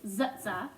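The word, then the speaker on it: TsTs: s t s today I'm going to be pronouncing it as she suggested with zutsa and for t c h k e I'm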